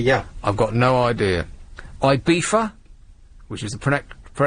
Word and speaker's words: Ibiza: Ibiza, which is the correct pronunciation.